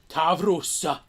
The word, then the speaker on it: Tavros: Roll your R. Tavros.